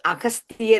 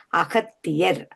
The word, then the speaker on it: அகத்தியர்: பற்றி நீங்கள் கூறி இருக்கிறீர்கள் நீங்கள் கூறிய போது அகஸ்தியர் என்றுதான் சொன்னீர்கள் இந்த அகஸ்தியம் என்று வந்தால் அது வடமொழி சொல் என்றுதான் சொல்லுவார்கள் அகத்தியர் நாங்க காவில தான் அவர் உச்சரிப்போம் தமிழ் மொழியில் உச்சரிக்கும் போது காவில உச்சரிப்போம் அதுக்குதான் உதாரணமா இப்ப கன்கோனிசன்